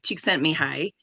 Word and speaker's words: Csikszentmihalyi: the 90s, let me see if I can pronounce his name. I had to write it down. So his name is Mihai Csikszentmihalyi, is how you say his name.